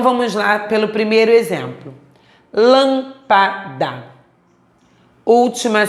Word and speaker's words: lâmpada: Lâmpada. Última sílaba, penúltima sílaba e antepenúltima. Observamos que a sílaba mais forte é a antepenúltima.